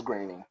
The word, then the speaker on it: Groening: I always say Groening, because it looks phonetically like groaning. Yeah. Visually, it does. When you look at it, the pronunciation looks like groaning, but it's Groening.